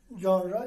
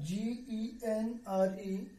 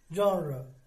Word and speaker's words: genre: term which means kind or high the term genre g-e-n-r-e should not be pronounced as genre okay its formative transcription is